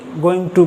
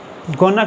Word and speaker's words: going to: इसी तरह दोस्तों, जब हम बी गोइंग टू का प्रयोग एक दूसरे तरह से करते हैं, जहाँ पर टू के बाद वर्ब की फर्स्ट फॉर्म आई, वहाँ पर हम गोइंग ट को गोना कह के प्रोनाउंस कर सकते हैं या करते हैं।